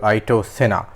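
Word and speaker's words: Ayrton Senna: is McLaren's hyper car named after their driver Ito Sena and that is the correct pronunciation actually listened to it before despite many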